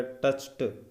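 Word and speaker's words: touched: अब इस डी को ट का उच्चारण देना पड़ेगा, टच्ड।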